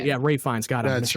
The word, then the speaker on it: Ralph Fiennes: I think it's Ralph Fiennes, if I'm pronouncing his name right. Ray Fiennes.